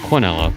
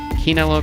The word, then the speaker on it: quinella: the two dollar quinella so canelo is sometimes pronounced cornella i know some people get you know funny about that so keenela quinella is first and second